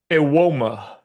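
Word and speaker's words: Evbuomwan: How in the world do you get that from that? Ewoma. I don't know. Where did the B go? Where did everything go?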